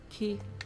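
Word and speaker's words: き: It's a consonant followed by a vowel. You pronounce it as ki.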